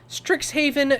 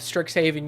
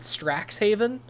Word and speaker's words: Strixhaven: Uh uh on your first like pronunciation of Stricks Haven, you pronounce it Straxshaven.